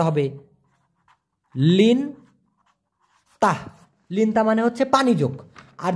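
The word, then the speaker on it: lintah: সেটাকে আবার বলা হয় লিন তাহ লিন তাহ উচ্চারণটা হবে লিন তাহ লিন্তা মানে হচ্ছে পানিযোগ আর যেটা উপরে থাকে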